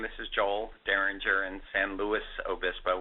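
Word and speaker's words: San Luis Obispo: is Joel daringer in San Louis Obispo we pronounce the S um so um we're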